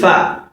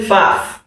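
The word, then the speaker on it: فاء: This is fa. Some people call it faf. No, it's not faf. It is fa.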